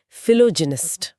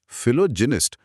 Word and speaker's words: philogynist: यह शब्द है फिलोजेनिस्ट। फिलोजेनिस्ट।